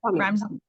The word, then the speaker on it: Sonia: It Sonia. rhymes with lasagna.